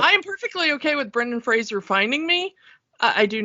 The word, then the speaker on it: Fraser: If you say Frasier, I know where you live. Oh, crap. Brendan Fraser's going to kill me. And so because of that, I have spent the last 20 years making sure I pronounce his name correctly.